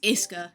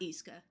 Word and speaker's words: Isa: to a friend earlier it's Isa not Isa ah okay yeah and